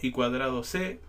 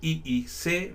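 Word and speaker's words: I²C: Bueno, que dice ido c pronunciado y cuadrado C o a veces también I y i C por las siglas en inglés correspondientes a circuito interintegrado.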